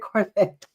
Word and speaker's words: Corvette: It rhymes with debt. I just said Corvette, right?